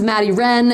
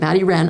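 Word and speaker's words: Maddie Rean: My top ones, Maddie Wren, and that's R-E-A-N. It's the way she pronounces it, Maddie Wren. I had to learn how to pronounce it correctly.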